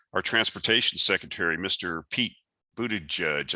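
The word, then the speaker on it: Buttigieg: transportation secretary mr pete booted judge i think his name is pronounced booty judge something like that and you know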